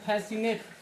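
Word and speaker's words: fascinate: फिर उसके बाद यहां फैसनेट फैसनेट में सी के बाद आई आई। आई के बाद आती है। सी के बाद जब आई आता है तो सी क्या हो जाता है? साइलेंट हो जाता है। तो यह हो जाता है फैसिनेट।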